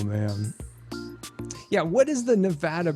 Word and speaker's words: Nevada: that people like to call Nevada but it's Nevada and Oregon is Oregon not Oregon oh my